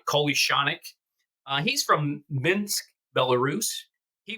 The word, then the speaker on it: Kolyachonok: His name is Vladislav Kolyachonok. I think that's pronouncing it right. I hit the pronounce Google button. That's how they're pronouncing it, Kolyachonok.